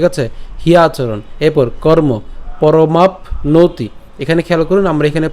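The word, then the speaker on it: পরমাপ্নোতি: চরণ হিয়াচরণ ঠিক আছে হিয়া আচরণ এরপর কর্ম পরমাপ নতি এখানে খেয়াল করুন আমরা এখানে প্যন্ত উচ্চারণ করলাম অর্থাৎ পরমাপ এই ম আকার প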